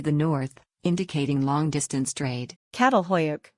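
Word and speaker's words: Çatalhöyük: north indicating long-distance trade cattle hoyuk pronounced chatel huyuk means Fork mound in Turkish a reference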